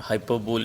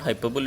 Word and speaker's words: hyperbole: Many of time people say it hyperbole or hyperbole. It's not hyperbole, it is hyperbole.